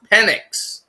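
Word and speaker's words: Penix: this guy's name is p ni iix it's pronounced penic right but if you slip you can say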